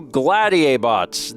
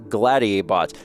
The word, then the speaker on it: Gladiabots: Today, we are taking a look at Gladiabots. It's kind of a hard word to say, to be honest, because it's supposed to be like gladiator, but bots, so I keep messing